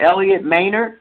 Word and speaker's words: Elliott Maynard: Elliot Manor and that is I am pronouncing that correctly right yes okay when I